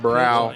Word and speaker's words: Braun: All right, Braun, let's you can go join your partner. Mane four times a perfect game all-American in high school. I'm going call them brow. The the N is silent.